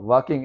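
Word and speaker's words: walking: हां वाकिंग L silent रहता है।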